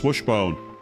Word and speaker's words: Swishbone: Despite my username, you don't actually pronounce the second letter S. It's just Swishbone.